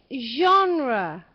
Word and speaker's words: genre: difficult could you uh teach me how to pronounce okay genre I've actually put uh uh genre JRE okay